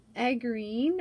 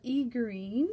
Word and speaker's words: aegirine: little feldspar crystals on a green or e green depending how you prefer to pronounce it and that a green